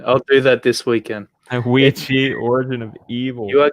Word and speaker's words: Ouija: How do you pronounce it? Ouija, yeah. Origin of Evil. Okay, dude. I'll do that this weekend. Ouija, Origin of Evil.